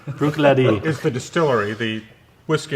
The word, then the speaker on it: Bruichladdich: is this bottle right here how do you pronounce it Bruichladdich Bruichladdich is the distillery the whiskey itself is called